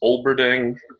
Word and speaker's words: Olberding: It's Olberding, just exactly. If you go back to your second grade phonics, uh, it's it's just and really it's the only thing. A lot of people don't like pronounce the L after the O, and I've actually seen